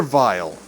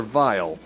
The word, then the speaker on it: Weil: Weil is only his name here in America his name in Japan is dr. vile and even then while if you use German pronunciation things will be pronounced as vile so is that as